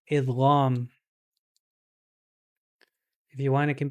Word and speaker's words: idgham: This is called idgham. If you want, it can be I D G H A M.